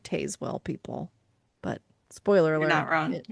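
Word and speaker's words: Tazewell: I used to call it Tazwell County, guys. I didn't know. There's an E in there. And Brian was like, it's Tazwell.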